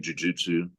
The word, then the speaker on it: jujutsu: But yeah, you say it right, Jujutsu Kaisen.